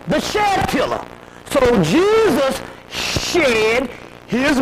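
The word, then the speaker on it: Djed: The Jed pillar. The real way it is pronounced by the Egyptians was the Shed pillar.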